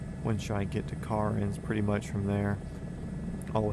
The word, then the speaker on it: Cairns: Probably the only downside is people call it cans and they pronounce no the wrong way. Other than that, probably a pretty decent spot. When should I get to car ends?